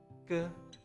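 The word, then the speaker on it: ㄲ: 쌍기역, 끄, sky. The pronunciation of 쌍기역, 끄 sound is similar to K after S in English.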